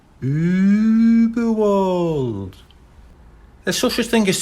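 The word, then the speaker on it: Überwald: Uberwald, he read out. That's Uberwald, said a small, squeaky, but very clear voice. The dots make it suck a long ooh sound, but you're doing very well. Uberwald.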